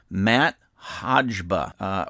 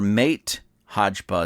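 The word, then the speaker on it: Máté Hajba: And this is by a gentleman by the name of Matt Hodgba, or Mate Hodgba is the way it is spelled. M-A-T-E, first name, H-A-J-B-A, second name or last name.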